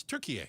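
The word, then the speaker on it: Türkiye: That's how they say it. That's not how I say it. I've been saying it wrong my whole life, so it's Turkey A.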